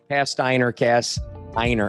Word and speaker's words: Pasteiner: my past named Pasteiner. Rhymes with, how do we remember your name? Cast iron. Pasteiner.